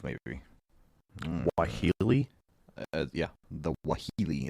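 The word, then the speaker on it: Waheela: nahini Valley some attributed the suffers to the wahili a giant wolf-like creature that hunts in packs of two or three direwolf Maybe why Healy yeah the wahili it's spelled w-a-h-e-e-l-a a giant wolf-like creature my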